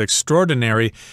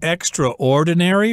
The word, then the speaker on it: extraordinary: So I should also mention that the word extraordinary can also be pronounced extraordinary, but that's a much rarer pronunciation.